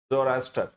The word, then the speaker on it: Zoroaster: हिंदी में जरस्थ्रुस बोलते हैं, इंग्लिश में स्पेलिंग है जोरास्टर, ठीक है।